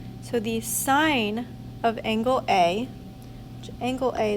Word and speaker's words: sin: ratios abbreviated a lot the abbreviation for sine is s i n but it's it is still pronounced sine the abbreviation for cosine